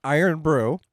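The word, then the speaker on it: Irn-Bru: hoping apparently it's pronounced iron Brew yay I I'm with you IR n BR r u there's no o it's iron brew and it's Scottish so it say Scottish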